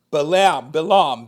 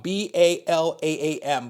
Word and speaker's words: Balaam: If you remember a couple of Torah readings ago, we studied the story of Balak or Balak and Balaam, B-A-L-A-A-M, Balaam, or Balaam as people pronounce it, and how we had